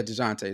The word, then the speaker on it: Dejounte: Devontae Murray, and then you got Chicago Dejounte who Murray. Yeah. played. Yeah, Dejounte.